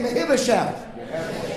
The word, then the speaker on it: Mephibosheth: His name was Mephibosheth. Everybody say Mephibosheth. That's how you pronounce it.